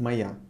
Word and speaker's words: моя: So, now for feminine, let's take газета, моя газета, моя, written моя, pronounced моя, моя газета.